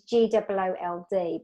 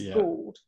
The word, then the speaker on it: Gould: So she's Goold, but people don't always know how to pronounce that. So it's Gould. And so she played Gold by Spandau Ballet. And then she said, no, it's Gould after she played the song.